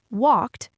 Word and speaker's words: walked: Most learners see the e d at the end of a verb like in the word walked w a l k e d.